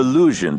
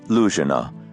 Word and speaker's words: Luzhin: Luzhina, which means the Luzhin Defense, and refers to a chess defense supposedly invented by my creature, Grandmaster Luzhin. The name rhymes with illusion if pronounced thickly enough to deepen the U into oo.